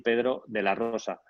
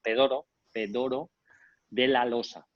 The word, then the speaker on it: Pedro de la Rosa: ellos aprendieran a decir pedro de la rosa pero fue imposible y de hecho mi nombre o sea ellos cómo construyen las palabras por sílabas me llamaban tedoro pero de la losa entonces puede sonar una